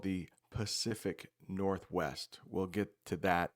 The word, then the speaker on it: Pacific: Some native English speakers pronounce this incorrectly and they will say Pacific Ocean, but it does start with a P and it's called the Pacific Ocean.